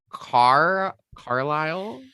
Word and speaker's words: Carlisle: So I always say it wrong. I've been practicing it. I believe it's Carlisle. Carlisle, yes.